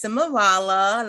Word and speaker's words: Simeralla: Simeralla. Yes. Girl, tell me about yourself and your journey. Okay, so my name is Simeralla.